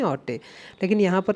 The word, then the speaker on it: haute: इधर या तो हॉटे इन द, अब देखो इधर ऑटे इसे बोलते ऑटे, ऑटे इन द विंटर। अब सही से प्रोनाउंसिएट करेंगे, ये फ्रेंच वर्ड है HAUTE, जो वर्ड दे रखा